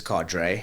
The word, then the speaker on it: cadre: And and I love that people say carded deployment because I when I first saw the phrase and and read it in my mind the way I pronounced it rings a lot more true to what it actually is and it's cadre cadre and that's uh it